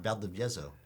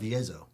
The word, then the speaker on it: Valdivieso: You know, when I say phonetic, Spanish, which is what it is Spanish is a phonetic language, meaning if you write it, you can pretty much pronounce it the way it's written.